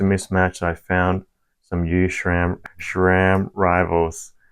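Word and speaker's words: SRAM: I found some you Shram Shram Rivals it's funny funny how everyone says Shram like spelled like this Shram and my local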